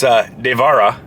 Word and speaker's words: Devara: guy, which I was saying it wrong, it's Devara. Or Devara. Devara. There you go, yeah. Devara. Devara. Devara. Devara. Devara. Devara. Devara. Devara. Devara. Devara. Devara. Devara. Devara. Devara. Devara. Devara. Devara. Devara. Devara.